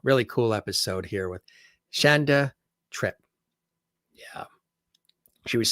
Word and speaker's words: Shanda: giving but uh yeah she pronounces her name Shanda like chandelier she says things chandelier